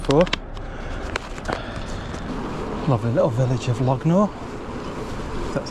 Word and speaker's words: Longnor: Lovely little village of Lognor. That's how you say it. Longnor.